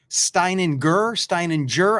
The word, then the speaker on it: Steininger: Steininger. I'm not so heavy on the G. What do I do with that? It's a hard G. It's a hard G? Yep. Steininger.